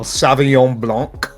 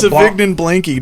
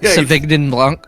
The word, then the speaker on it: Sauvignon Blanc: No, it's Sauvignon Blanky, dude. Yeah. Is that Matt LeBlanc's brother? Yeah. Sauvignon Blanc.